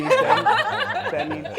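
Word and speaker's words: Teni: Tini? You mean Tani, Tani? Tani. He's so Americanized. He was born here. Tani, she has said it right.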